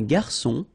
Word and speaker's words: garçon: Une cuillère à soupe, un garçon. Remember when we get this cédille beneath the C, it will give you the pronunciation S of C. So instead of K, as it should be with O.